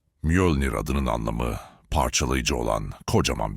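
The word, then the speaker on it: Mjölnir: Mölnir diye okunur. Mölnir adının anlamı parçalayıcı olan kocaman bir çekiçtir.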